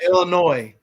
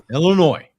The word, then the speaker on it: Illinois: You don't put the S on Illinois. Yeah, Illinois. Yeah, okay. My bad. Illinois. So when Illinois, never say Illinois.